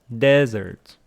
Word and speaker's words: desert: And dessert, dessert, what you eat. Desert, desert, where you don't want to go, the hot place, Sahara. Desert, dessert, stress on the second syllable, dessert. Desert on the first syllable.